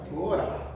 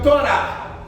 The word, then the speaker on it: Torá: De igual modo, o H final em toda a palavra hebraísta não tem som.